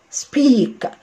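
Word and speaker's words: speak: سب سب سبيك. ما تجيش انا بس استعجى واقول ايه اسبيك او محطه اي في الاول عشان انا نطقت اي، لا سبيك سبيك.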